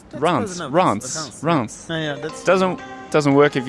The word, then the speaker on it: Reims: everyone at home France RS that's Rance yeah doesn't doesn't work